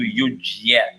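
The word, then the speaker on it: युज्य: Again, do justice to yujya. Yujya. Yujya. If you rust, it will make a yujya. It is not. There is no syllable called jya.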